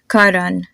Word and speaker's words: Karan: try to apply here I'll give you three more names Karan n and Rohit do you notice how my consonant just sound a whole lot softer so try to repeat after